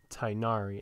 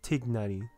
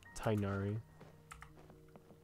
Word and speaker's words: Tighnari: characters or at least the voice actors are told to pronounce his name tainari instead of tignani but we're we're just